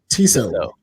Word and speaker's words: Tissot: Oh, Tissot.